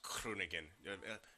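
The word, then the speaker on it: Groningen: is the the graduate from Kronigan, Netherlands. Number three, Yesabank or might be pronounced Kronigan. Big emphasis on the Crew.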